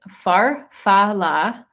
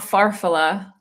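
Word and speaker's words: farfalla: Okay, he says farfala, not farfala. Farfala. Am I saying that right?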